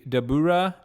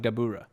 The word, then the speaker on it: Dabura: name sounded so familiar i think it's just devil but like the way they say it in japanese like the english word devil but the way they say say in japanese phonetically then in english sounds like dabura not in like a